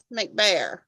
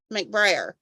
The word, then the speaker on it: McBrayer: this all came from Theresa mcbear McBrayer I always say her name wrong and then say it right from prayer um the quilt shop